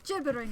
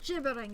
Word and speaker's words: gibbering: pass gibbering wet or gibbering rather gibbering it's a soft G next people as I